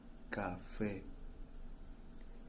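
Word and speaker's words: café: the color brown cafe so listen carefully my friends cafe we have an asian mark in the last syllable faith so we have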